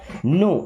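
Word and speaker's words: know: नो इस नो word में दोस्तों के और डब्ल्यू साइलेंट है।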